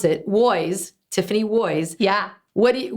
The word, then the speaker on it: Woys: pronounce it was Tiffany woys yeah what do you what kind of uh errors do people make with your name oh ooze Wows ways one of my best